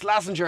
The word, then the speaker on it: Slazenger: Head gardener Alex Slazenger. Is that right, Alex? Oh, you pronounced it correctly.